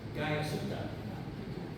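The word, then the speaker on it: Guyasuta: Gayasuta.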